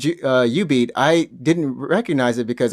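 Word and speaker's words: jubeat: When you said U-Beat, I didn't recognize it because I always pronounce it Ju-Beat because it's no, it's spelled like J-U, right? J-U beat or something.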